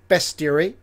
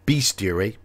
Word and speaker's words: bestiary: snake cult dungeon and bestiary I do hear a lot of people say pronounce that word beastiary no it is bestiary bestiary why the best theory or bestiary it's a short e and energy weapons right